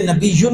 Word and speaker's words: نبی: نعوذ باللہ من ذالک، نہ یا مد یا پڑھی ہی نہیں، یعنی سمجھو کہ لفظ نبی کا تلفظ ہوا ہی نہیں، یہی مطلب بنتا ہے، اور کیا بنتا ہے؟